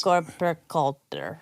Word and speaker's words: Freikörperkultur: It's FKK because in German it's Body is- Freikörperkultur.